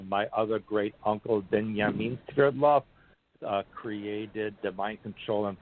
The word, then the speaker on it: Swerdlow: And the last name, well, the last name is really a Russian name, but in the United States it's pronounced Swerdlow, but in Russia it's Sverdlov.